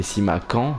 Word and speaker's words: Simakan: On m'a dit, niveau prononciation, qu'il fallait que Simakan se prononçait Simakan, du coup, et que Ajorc se prononçait Ayork.